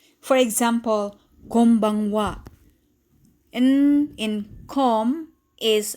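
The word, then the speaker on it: こんばんは: or b for example konbanwa in in com is pronounced as m because the letter that comes after n is b and as a rule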